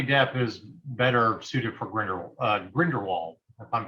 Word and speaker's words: Grindelwald: I feel like Johnny Depp is better suited for Grindelwald, if I'm pronouncing that correctly. Grindelwald.